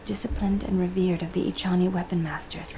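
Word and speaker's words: Echani: It is something I have seen in only the most disciplined and revered of the Ichani weapon masters. Ichani, that's how it's It comes pronounced.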